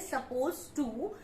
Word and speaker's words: supposed to: पहली बात, क्योंकि बहुत से लोग उसको सपोज टू बोलते हैं और जब हम बोलने लगते हैं सपोज टू तो इसमें डी का जो प्रोनाउंसिएशन है वो नहीं होता।